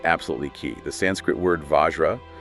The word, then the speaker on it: vajra: The Sanskrit word Vajra, pronounced Vajra, means both diamond Okay, the gemstone.